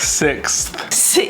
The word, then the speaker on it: sixth: Sixth.